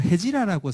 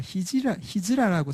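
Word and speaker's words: هجرة: 쫓아내서 메디나로 간 것을 옛날 우리 책에서는요 헤지라라고 썼는데, 그러니까 요즘은 이제 발음대로 쓰다 보니까 히즈라라고 쓰는데요, 히즈라력이라는 것도 있습니다.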